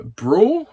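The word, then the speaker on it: Brühl: lenon yeah it's got Daniel uh Bru is how you pronounce his name Daniel brw um who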